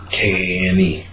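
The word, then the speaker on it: Kāne: K-A-N-E. Cain, also known as Tane, pronounced Tane. Oh, no, this is not pronounced Cain, it's pronounced Kane. K-A-H-N-A-Y. Kane. Almost like Kanye West.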